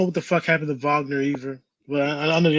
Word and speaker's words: Wagner: Franz, and it's pronounced Wagner. So even though it's a W, it's a V.